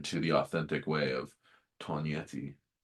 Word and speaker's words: Tognietti: an American, which is Toganetti. But when you get to Italy, the G is silent and people laugh at you. And so we have changed our pronunciation to the authentic way of Tonyi.